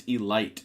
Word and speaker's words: elite: You keep saying it wrong. It's elite.